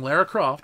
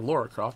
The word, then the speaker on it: Lara Croft: It's like, yeah, IDOS Publishing beat you to the punch 23 years ago with Tomb Raider, starring Lara Croft, or Laura Croft, depending on how you want to pronounce it.